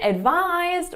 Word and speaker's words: advise: So both of these are stressed on the second syllable.